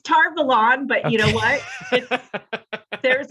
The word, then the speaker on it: Tar Valon: called the flame of tar valentin i probably butchered that that's tar valon but you know what